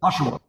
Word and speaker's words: Oshawa: Oshawa.